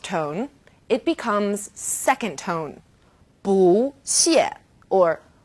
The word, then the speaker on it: 不: In this case, 不 is special. It's an exception in the world of fourth tones. 不谢, 不客气, 不用谢.